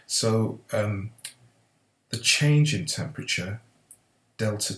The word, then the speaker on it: delta: So the change in temperature, delta T, is equal to 70 degrees C. This symbol here is a Greek symbol, and it's pronounced delta, okay, delta, and all delta means is change, okay.